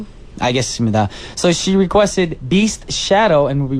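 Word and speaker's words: B2ST: So, she requested Beast Shadow and we'll be right back after the song. Once again, that was Shadow by Beast cuz these kids are beasts.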